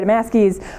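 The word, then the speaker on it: Damaske: actually don't know how to say her last damask II thank you Sarah damask ease qualitative book that looks at this wide distribution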